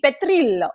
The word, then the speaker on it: Petrillo: example, my last name, if you were to truly give it the Italian pronunciation, it's Petrillo.